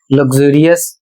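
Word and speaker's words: luxurious: अगला शब्द है एल यू एक्स यू आर आई ओ यू एस और इसे पढ़ना है लग्जुरियस और इसका अर्थ होता है आलीशान।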